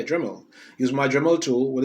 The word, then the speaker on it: Dremel: Am I saying it right? Dremel. Yeah, Dremel.